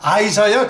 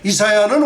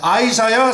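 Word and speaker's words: Isaiah: 다음 킹 제임스 버전 이사야, 예, 이사야라 그러니까 아이사야 그렇게 발음해야 돼요. 이사야는 우리 발음이고, 예, 그러니까 이사야, 예, 아이사야 46장 11절입니다.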